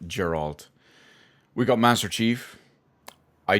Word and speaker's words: Geralt: above that we've got Gerald from The Witcher 3. I believe I pronounced that correctly I'm pretty sure it's Gerald and not geralt we got Master Chief